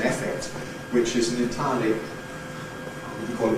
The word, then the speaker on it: effect: And therefore you had to use strong vowels and said affect and effect, which is an entirely,